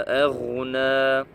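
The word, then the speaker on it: أغنى: Ma aghna. C'est pareil pour la remarque ici. Roin. Quand on a fait ici, dans Surat An-Nasr, Ghain, ce n'est pas Kha, ce n'est pas Ma aghna, Ma, c'est Ma aghna, aghna, anhu maluhu.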